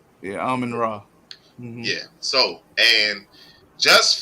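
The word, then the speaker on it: Amon-Ra: Ain't that how you pronounce his name? Yeah, Amon Ra.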